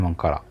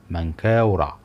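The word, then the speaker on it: منكاورع: الثالث للملك من قورع اللي مشهور عند اغلب المصريين باسم منقره لكن النطق الصحيح لاسمه هو مانكا ورعد ومعناها طويل العمر بقوه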